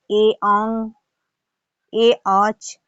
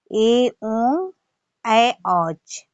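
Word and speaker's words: एओङ् ऐऔच्: उसको बोलेंगे ए ओंग, ए औच। तो ए ओंग और ए औच नहीं होता है, इसका शुद्ध उच्चारण है ए ओंग ऐ औच, ए ओंग ऐ औच।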